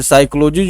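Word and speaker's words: psychology: जैसे साइकोलॉजी जो शब्द है, साइकोलॉजी लिखते हैं PSY CHOLOGY, साइकोलॉजी। यहाँ पर तो पी जो साइलेंट हो जाता है दोस्तों, ठीक है ना, PSY CHOLOG साइकोलॉजी, मनोविज्ञान।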